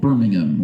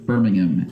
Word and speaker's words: Birmingham: England and over there they're pretty insistent that we're supposed to say Birmingham like no h involved Birmingham like no ham like just a vegetarian version just Birmingham how would you say it here would that be correct here no no we're all about the ham Birmingham yeah okay uh got